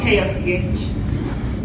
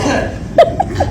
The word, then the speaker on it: Koch: It's spelled K-O-C-H. It's not Koch. It's not Coach. And I dare not say stuff that I've heard before. It's just Cook.